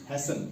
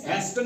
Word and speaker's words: hasten: जैसे इसको हम पढ़ेंगे HASTEN, हैसन। क्या पढ़ेंगे? हैस्टन नहीं पढ़ते हैं, इसको हैसन पढ़ते हैं, ठीक है।